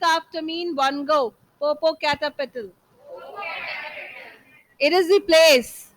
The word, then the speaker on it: Popocatépetl: What was the pronunciation that I told you yesterday? Popocatépetl. So those who are here in offline class will speak after me in one go. Popocatépetl.